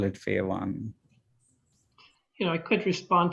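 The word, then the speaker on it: FAE1: fey1 or f-a-e ah you said it right pha one yeah it's a it's called uh it's a fatty acid um elongation yeah one it's a gene that was identified in arabidopsis and they call it pha one you know i could respond to one of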